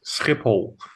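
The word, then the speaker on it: Schiphol: It's It's Skipipole. You wouldn't be able to pronounce that.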